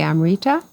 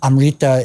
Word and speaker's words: Amrta: But just for anyone who's listening, Amrta is spelled Amrta. So Finca Amrta there's no I, even though you might imagine that there is when hearing it.